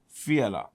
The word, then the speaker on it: Fiala: The capital is Prague, and the prime minister here is Petra Fiala. That's how you pronounce Fiala. Petra. Petra Fiala.